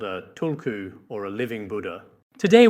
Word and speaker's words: tulku: The authentic Tibetan pronunciation of this word is tulku.